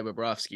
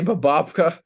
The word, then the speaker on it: Bobrovsky: He didn't say Sergei Bobrovsky. He said a collection of syllables. It was in no Sir, coherent way Sergei Bobrovsky. Sergei Bobovka. Yeah. Oh, that was so good. Babovka.